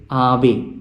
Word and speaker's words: Ave: So we say Ave. It is not Ave, but it is Ave. So normally the accent is on this penultimate or the second last syllable.